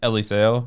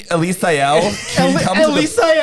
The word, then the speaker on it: Eliseo: my name's actually eli it's actually eliseo but i go by eli cuz my whole childhood trying to teach a teacher a white teacher how to say my name ruined that for me like excuse me elisael i literally had i